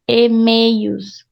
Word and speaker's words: e-mails: E-mails. Então, it's like you're pronouncing like this. E-mail. And then the U. E-mails. Like there's a little I in between.